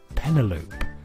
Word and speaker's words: Penelope: called Penelope and I pronounced her name to rhyme with envelope I see so penelopee penelopee envelope I got like Penelope uh she stabbed